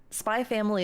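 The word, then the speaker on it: SPY×FAMILY: only one like that spy family is like that too the ex is silent the Japanese people like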